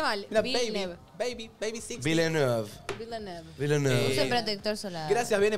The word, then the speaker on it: Villeneuve: Ah, lo pronuncié mal. Villeneuve.